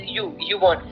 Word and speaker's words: Ubon: So actually, thing is, Ubon, we pronounce it like YouTube, so we pronounce it like Ubon.